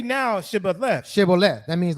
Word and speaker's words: Shibboleth: Unto him say now Shibboleth, and he said Sibboleth, for he could not frame to pronounce so it they right.